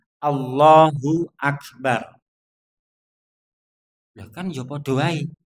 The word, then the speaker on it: Allahu Akbar: Jadi takbiratul ihram juga takbir perpindahan nu bentuk pelafatannya seperti ini yakni Allahu Akbar.